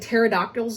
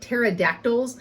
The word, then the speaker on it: pterodactyl: So like pterodactyls, did I really just say it like that? Pterodactyls, not pterodactyls.